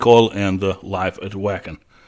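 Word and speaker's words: Wacken: and the Live at Wagon or Vakan, I suppose, if we're going to pronounce it properly.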